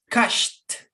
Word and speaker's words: cashed: So the pronunciation in past tense is with the letter T, cashed.